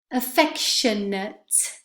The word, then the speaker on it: affectionate: them as well our affectionate please note where the stress goes and the a te ending which is ending which